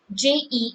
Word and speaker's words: je: So je as we sound it, we have JE in the French, and the pronunciation is like JHE, je.